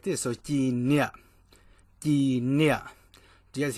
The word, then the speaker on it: Cim Niam: So Cim Niam, Cim Niam. Do you guys hear that? It's a little down tone. So Cim Niam, Cim Niam, straight down.